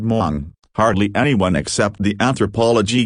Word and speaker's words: Hmong: at the same time hardly anyone knew how to pronounce the word Mong hardly anyone except the